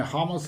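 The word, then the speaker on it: Hummels: başka isimde humel arkadaşlar humes diye yazılıyor ama Almancada hamel diye okunur stoper biliyorsunuz Borussia Dortmund'un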